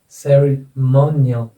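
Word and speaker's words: ceremonial: ऐसे इसमें आ जाएगा यहाँ पर सेरेमोनियल, सेरेमोनियल, सेरेमोनियल।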